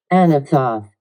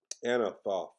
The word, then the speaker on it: Anathoth: Let me make sure I'm pronouncing it correctly. Anathoth. Anathoth.